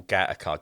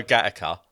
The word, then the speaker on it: Gateacre: There's a place in Liverpool called Gateacre, but it's spelled Gateacre, and they don't like it when you say Gateacre because it's Gateacre.